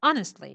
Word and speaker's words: honestly: honestly no honestly not honestly see put the stress on the first honestly yes honestly no thanks